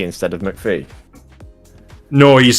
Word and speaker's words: McAfee: I don't know much about John McAfee's personal use bike, but he is Scottish, and that's all I'm going to say.